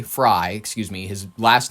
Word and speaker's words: Frey: Let's I want to get I want to get to Mayor Frey. Fry, excuse me. His last name is spelled F R E Y. So, it bothers me. Frey. It's Fry. It's spelled Frey.